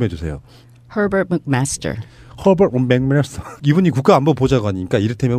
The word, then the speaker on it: Herbert McMaster: 미국 정가에 예를 들면 지금 허버트 맥메스터 이 발음 좀 해주세요. Herbert McMaster.